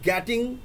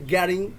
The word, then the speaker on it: getting: মনে রাখবেন GETTING গ্যাটিং না, এটার উচ্চারণটা হয়েছে গ্যারিং, আই এম গ্যারিং এরকম, আই এম গেটিং 10,000 টাকা।